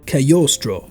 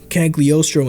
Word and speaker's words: Cagliostro: repeatedly in my life a cagliostro is actually pronounced as kyostro however if i accidentally flip and say cagliostro instead my mistake please forgive